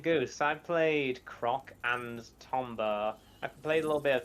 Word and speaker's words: Tomba: I played a little bit of Tomba 1 back in the day, but I played all through Croc. You know, funny story about Tomba, or Toomba is how I've always pronounced it.